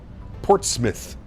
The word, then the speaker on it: Portsmouth: As a New Englander, I feel it's my duty to tell you that it's Portsmouth. Portsmith. Correct. Sorry.